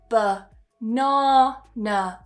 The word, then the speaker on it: banana: We would weaken it because those syllables are not strong. The first and the final syllables are with awah. So we would say banana.